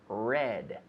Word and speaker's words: read: read yesterday i read red and lately i have read now the pronunciation read and read just like the color red red now the d